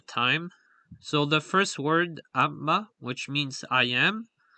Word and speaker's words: amma: which means I am, the stress is on the last syllable, as the word only contains 1 foot, as it's a 2-syllable word. So here you can hear Matthias say the word. Amma. So as you can see, he emphasizes the second syllable of the word.